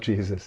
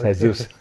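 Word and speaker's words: Jesús: Is that how to pronounce it? Not Jesus, it's Jesus.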